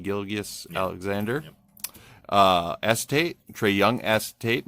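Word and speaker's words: Gilgeous-Alexander: Gilgeous Alexander.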